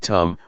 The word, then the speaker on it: dhamma: we see this now the dhamma in Thai pronounced in the same way as the word tum which means to do